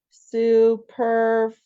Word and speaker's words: superfluous: hang on I have to see how to pronounce it suurus it's like sup Superfluous Superfluous okay sorry Perhaps Perhaps this may seem